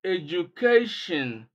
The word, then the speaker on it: education: You can see that we break the word into 1, 2, 3, 4 syllables. Education. And then stress is placed on the third syllable from the beginning, or the second syllable from the end of the word.